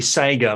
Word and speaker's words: Sega: Well, the Australian way would be Saiga, like Saiga.